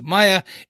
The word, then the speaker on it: Maya: this comes from is obviously her name is pronounced Maya in the show uh in I have a